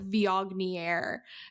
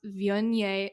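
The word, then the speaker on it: Viognier: And that looks nothing like how it's how it's said. It's like vioier is what the word looks like, but it is delas vion vi and vi is the grape and it's just this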